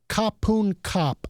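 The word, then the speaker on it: ขอบคุณค่ะ: you say it is kapun kap. The men say kapun kap, and, like everyone's like this. And then the women say ka, so kapun ka.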